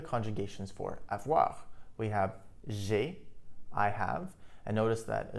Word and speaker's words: j'ai: It would be a lot more difficult to say je ai rather than just j'ai. If we say j'ai, there's a bit more of a melody to it. So that's why we say it like that.